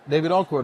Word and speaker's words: David Oku: Nice to meet you, Did I pronounce everybody. your name? Say it again? David Oku? David Oku, that's it. Oku.